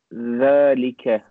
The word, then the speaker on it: ذلك: بيت وذلك مسجد not ذلك is pronounced ذلك but is written without the elif The word waw is written close to following word.